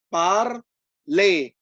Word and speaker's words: parler: Anyway, er itu dibaca e, ya. Jadi parler.